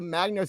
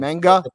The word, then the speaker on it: manga: It's a Magna series from 79 that has a bunch of wrestler homages. Anybody? Anybody? Kev, are you in Are you into I'm uh Hold on. Manga. Sorry, I pronounced it wrong.